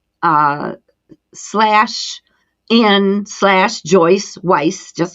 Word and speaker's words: Weiss: find that through linking up with you Joyce Weiss and it's spelled w-e-i-s-s am I pronouncing that the way